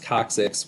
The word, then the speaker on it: coccyx: never had to say this word before it's pronounced coccyx which is your telephone these things are called